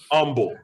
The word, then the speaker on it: Humble: yeah no it's pronounced humble texas humble texas the h is silent i don't i don't